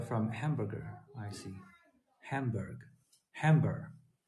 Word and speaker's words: Hamburg: Hamburg. Is that the right pronunciation? Hamburg, not hamburger.